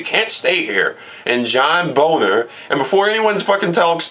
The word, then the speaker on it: Boehner: And John Boner, and before anyone fucking talks to me saying, oh, that's not how you say his name. Yeah, well, guess what? I'm saying it based upon how it's spelled.